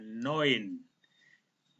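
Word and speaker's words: neun: EU dibaca OI, sehingga ini cara bacanya 9.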